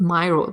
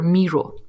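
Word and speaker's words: Miro: talked to them and they're not Myro they're Meo oh German pronunciation Meo yeah yeah interesting yeah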